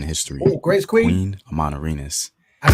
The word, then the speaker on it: Amanirenas: Queen Amanirenas. I said it right. Amanirenas.